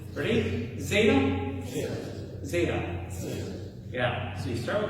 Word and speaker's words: zeta: Zeta is kind of interesting. It has a D and a Z. So zeta is going to be z. You start with a D, like you're going to say duh, but then you just kind of like rob it with a Z. So you're going to commit to it as D, and then also like, no, I just decided to roll the Z.